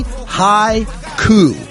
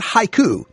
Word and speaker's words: Mighty Hi Coup: Mighty hi coup now when I first heard it I thought it was mighty ha cou like a Japanese poem that is a 575 syllable structure no no no not ha cou hi coup like the overthrow of a government by stoned people so mighty High coup